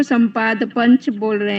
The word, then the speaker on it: सपाद: कहेंगे और सवा को सपाद कहेंगे सवा को क्या कहेंगे सपाद संपाद पंच संपाद नहीं कह रहे हैं संपाद नहीं कह रहे हैं